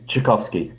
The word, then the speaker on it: Tchaikovsky: It's Tchaikovsky, but I don't expect anyone to know how to say it.